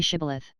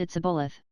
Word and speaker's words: shibboleth: let none pass who could not say shibboleth the ephraimites being of a different tribe could not frame to pronounce the word right but called it's a bulleth which proved them enemies